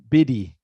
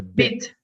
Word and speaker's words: bit: of color or so be careful you're saying biddy it's a bit so the t kind of dies remember like not you